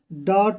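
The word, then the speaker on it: doubt: एब्साइलेंट हो जाता है बी का उच्चारण छिप जाता है तो डी ओ यू टी डॉट हो जाता है लेकिन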